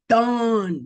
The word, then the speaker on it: Dan: So from the rest on out, even though it says D-A-N, We're going to pronounce it dawn because it's very, very important.